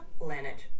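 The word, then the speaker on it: Laneige: догляду за губами так у мене ланеч так читається так ленеч - це чудовий вибір Він добре зволожує О ну супер ленеч буду тепер знать хоть як воно читається правильно то його як тільки не називала так правильно ленач Угу ленач Окей дякую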